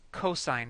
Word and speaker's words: cosine: and it is spelled c o s don't pronounce that Co or cos it's cosine it's just an abbreviation so cosine function and